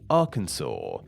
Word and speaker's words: Arkansas: One was happy with the French pronunciation, while the other wanted to pronounce it in a more English way, so it would sound somewhat similar to the nearby state of Kansas and be pronounced along the lines of Arkansas. This debate actually led to the state legislators intervening, and they made it law that the state's name should be pronounced in the way it is today, Arkansas.